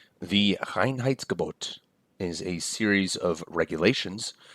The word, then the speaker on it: Reinheitsgebot: Now, the Reinheitsgebot, as it's pronounced, it literally means purity order, which I think is just such a wonderful German word.